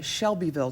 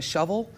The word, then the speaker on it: Shelbyville: We made it in this wonderful small town called, well, we know it as Shelbyville, Tennessee, but actually the locals in Shelbyville pronounce it like a shovel. It's like Shovel, Tennessee.